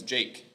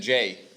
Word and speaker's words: Jake: I'm excited about it, but my name is Jake. You said Jay.